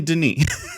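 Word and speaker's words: Denis: uh everyone we've all figured out it's definitely Deni it's Den yeah but the rest it's like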